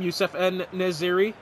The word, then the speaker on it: Youssef En-Nesyri: The first time, Youssef En-Nesyri?